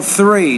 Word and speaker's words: three: no number three so with the th sound you need to get your tongue between your teeth pronounce it as an enter dental consonant so three number three California State